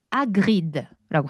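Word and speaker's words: Hagrid: 해리가 아니에요. 아. 해리면 에미 해그리드 아그리라고 해요. 충격적이죠. 음. H는 아예 발음을 하지 않는다.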